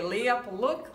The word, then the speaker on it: Leah Pawluk: to pronounce this course Leah Leah yes okay Leah PUK okay lay up a look lay up a look